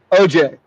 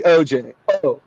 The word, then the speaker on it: OJ: Not Orenthal. OJ. And OJ. The emphasis is on the OJ.